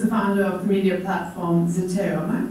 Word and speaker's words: Zeteo: He's, in his current avatar, he's the founder of media platform Zeteo. Am I pronouncing this correct? Yes, you are. Zeteo, for independent and unfiltered journalism.